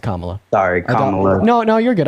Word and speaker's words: Kamala: Kamala on but I mean her name is pronounced Kamala sorrya no no you're good I doubt you're